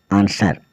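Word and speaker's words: answer: है लिखना ए एन एस डब्लू ई आर आंसर आंसर मतलब उत्तर एस डब्लू ओ आर डी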